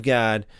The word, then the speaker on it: Gad: Septuagent and the children of Reuben and the children of Gad. And this word gad in the Hebrew uh is more pronounced like God.